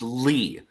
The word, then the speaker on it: Lea: uh Broadway music composer her last name is spelled l EA it's actually pronounced Lee but it looks like